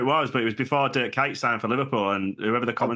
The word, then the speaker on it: Dirk Kuyt: I can't remember what FIFA it was, but it was before Dirk Kuyt signed for Liverpool, and whoever the commentator was. I was just going to say Dirk Kuyt. Yeah. Pronounced it Queeched.